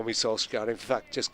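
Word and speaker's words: Solskjær: and he said, well, if you want to do the Norwegian, it's Ole Gunnar Solskjaer, something like that. My Norwegian is not what it was either, but he said, honestly, just call me Solskjaer.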